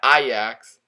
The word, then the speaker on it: Ajax: Now Ajax, yes, I finally pronounced it right.